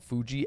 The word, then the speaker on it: Fuji: I said I was like, "How do we get to Fujian from here?" She goes, "Fujian." Fuji is how you say Mount Fuji.